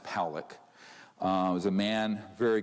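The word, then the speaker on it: Pawelec: 600,000 views this man William Pock is pronounced Pock uh was a man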